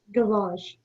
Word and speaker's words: gavage: Gavage. Am I saying it correctly? As far as I can tell, yes. Yeah. Gavage.